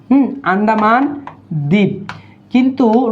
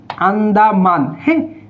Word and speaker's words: আন্দামান: দেখেন এটার সঠিক উত্তর সঠিক বানান হচ্ছে কি সঠিক বানান হচ্ছে আন্ডা আন্ডা আন্ডামান আন্ডামান দ্বীপ কিন্তু রবীন্দ্রনাথ ঠাকুর এটাকে একটু বিকৃত করে বইয়ের মধ্যে উচ্চারণ করছে আন্দামান হ্যাঁ সঠিক হচ্ছে এটা আন্ডা আন্ডামান দ্বীপ যেমন বাংলাদেশের